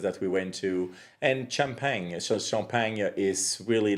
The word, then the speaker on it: Champagne: Now you pronounce it the right way. So it's called Champagne, France.